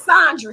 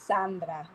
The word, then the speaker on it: Sandra: It's Sandra. See, you say I said I mean, in Spanish it's Sandra, but in English it's Sandra.